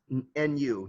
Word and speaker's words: nu: neutrino is the greek letter uh nu that's pronounced nu nu and the neutrino just you know i